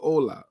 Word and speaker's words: Hola: first looked at it looked like it said hala hala no I get it it says Ola and I would I guess the H is silent okay um this is